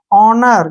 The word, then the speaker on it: honour: जैसे HONOUR, ठीक है ना, तो ओ से पहले क्या आया है इसमें? एच, एच को हमने नहीं पढ़ना है, इसको पढ़ेंगे हम ONOUR, ऑनर।